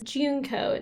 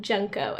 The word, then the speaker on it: Junko: previous videos said that this character's name is juneco not junko and that makes a